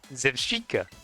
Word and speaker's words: Zebstrika: It's pronounced like paprika. Zevshika.